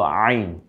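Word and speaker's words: عين: তো প্রথম অক্ষরটার নাম হলো আইন। কণ্ঠনালীতে চাপ দিয়ে, ওই যে হা পড়েছিলাম না যেভাবে, হা জিম খ, ওই কারণে। তো ওই হা এবং আইন এই দুইটা গলায় চাপ দিয়ে আমরা পরে আরও বেশি জানতে পারবো।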